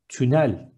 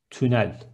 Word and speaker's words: tünel: Next one, tunnel is tünel with ü. One more time, tünel.